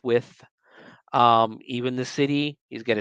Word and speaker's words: Wythe: George Wythe, and it's spelled Wythe, which is with. I promise you, it's with.